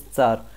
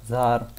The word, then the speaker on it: tsar: And what is Tsar? Tsar is Tsar, Tsar, or Zar. And it is not Z at all, and why this confusion comes, I will explain it to you.